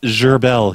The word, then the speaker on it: Gerbil: Oh, so gerbil like the little animal. Yeah, but it's pronounced gerbel. He's French, I guess.